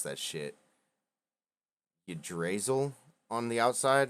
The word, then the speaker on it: Yggdrasil: dice bag with a symbol of, I can't pronounce that shit, Yggdrasil on the outside.